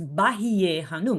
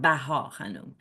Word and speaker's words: Bahíyyih Khánum: Bahíyyih is the feminine for most glorious, and it is applied to a woman, so it's Bahíyyih Khánum, not Bahá Khánum, Bahíyyih.